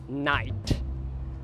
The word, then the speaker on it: knight: Knight se escreve como era falado há muito tempo, knicht, knicht, mas hoje em dia é knight.